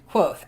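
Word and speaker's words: Kvothe: Quoth. Okay, well, it helps you. It says, my name is Quoth, pronounced nearly the same as Quothe.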